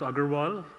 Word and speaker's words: Agarwal: my name is it's difficult to pronounce Agarwal it's a good world but just call me